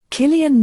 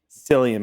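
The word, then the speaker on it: Cillian: Horse Dark Horse Paul giamani and the willwin selian Murphy wait I said that right I think it's pronounced Killian Killian yeah kilan Murphy sorry um and both just powerhouses Both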